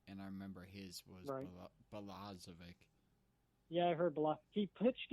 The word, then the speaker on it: Balazovic: And at number 97, Jordan Balazovic, I believe is how you pronounce that. I've also heard Balazovic. I've also heard. It's Balazovic.